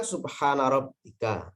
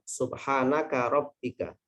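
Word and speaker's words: سبحان ربك: Yang benar kan subhana rabbika, yang benar itu ya. Subhana rabbika rabbil izzati. Kadang-kadang karena dia hanya tahu sekilas dengernya. Kemudian bacanya subhanaka rabbika. Itu salah itu. Subhanaka rabbika.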